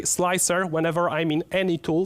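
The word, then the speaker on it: Slic3r: is a slick 3r i know it's stylized so that it's uh pronounced slicer but there is a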